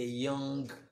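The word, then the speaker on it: ewe: This word is pronounced as you, just like you.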